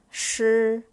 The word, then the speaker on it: 时: The word 时 has HS as a consonant. It sounds 斯, shi. And the vowel here is I that comes after the consonant SH, it should be sounded as sound, not E sound.